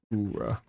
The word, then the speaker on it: Ura: The U is pronounced like a double Ora.